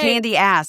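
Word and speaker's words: Candiace: Candy ass, if you're saying it phonetically.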